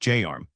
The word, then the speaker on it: JARM: Today we are covering JARM JWT secured authorization response mode pronounced JARM.